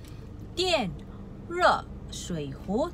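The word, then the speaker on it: 电热水壶: Sebutan D, kita perlu sebut T. I-A-N, yen. Okey, R-E, ro. S-H-U-I, shui. H-U-I, hu. So, untuk ejaan ni ialah tian re shui hu, tekan-tekan tenggelam naik.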